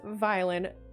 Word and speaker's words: Violin: It's not villain, it's Violin. But yeah, as they were